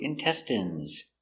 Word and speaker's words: intestine: So remember, the INE is pronounced in, intestine. 1 intestine, 2 intestines.